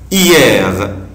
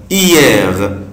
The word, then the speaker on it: hier: Hier, hier, hier, hier, يعني yesterday, امبارح, بالامس. طبعا, ici je ne prononce pas la lettre H, مش بنطق حرف ال H, بنطق كلمة hier, hier, hier, امبارح.